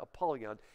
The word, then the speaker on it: Apollyon: It's usually pronounced Apollyon.